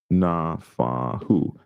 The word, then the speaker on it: Nafahu: High-profile figures like, again, this man, Pesalika Nafahu, I think, 3 syllables. Nafahu, 3 syllables.